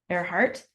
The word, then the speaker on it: Earhart: It looks like Earhart, but it's pronounced, oops, it should be a T. Earhart, not a D. Earhart.